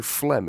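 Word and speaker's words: phlegm: Do you know did you know flem is spelled P H L E G M?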